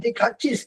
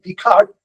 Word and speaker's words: Descartes: So when I used to mispronounce Descartes, she would tell me, no, it's not Descartes, it is Descartes.